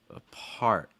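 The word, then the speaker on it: apart: on the second syllable right so that first syllable is very fast reduced not very strong advice advice about the second word a part a part in that last word applaud applaud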